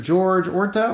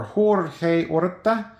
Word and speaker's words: Jorge Orta: Next card going in, Mr. George Orta, or Jorge Orta, depending on how you want to pronounce it.